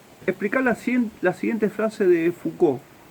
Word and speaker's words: Foucault: Sí, se escribe raro, ¿no? Pero se dice Foucault, es sencillo.